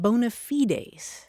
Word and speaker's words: bona fides: And in Latin, you pronounce it bona fides, and that literally means good faith.